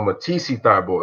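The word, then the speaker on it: Matisse Thybulle: So Matisse Thibault.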